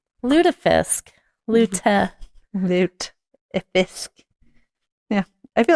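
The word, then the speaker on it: lutefisk: just like uh yeah ludifisk um I mean they serve that up in the north have I just been saying it wrong yeah thought it was loot fish Lish well [ __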